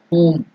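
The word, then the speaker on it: हूँ: So next thing is whom, the mantra is given there. H U elongated yam. So dirgha, whom or whom. That is the pronunciation.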